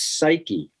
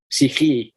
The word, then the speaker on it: psyche: in ancient Greek is psyche, the same as the word for soul. Psyche in Greek, but spelled the way we spell it, psyche.